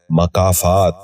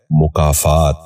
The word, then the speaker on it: مکافات: مقام۔ 11واں لفظ ہے مکافات۔ یہ غلط تلفظ ہے، اس لفظ کا درست تلفظ ہے مکافات۔ دوبارہ سنیے، مکافات۔ بچوں